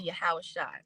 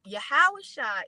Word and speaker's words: Yahawashi: it is yahawashi and some people said a little different than I said I say yahawashi and I spell it